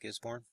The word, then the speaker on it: Gisborne: of Gisborne New Zealand that the way you say it Gisborne the Aussie Aussie subscribers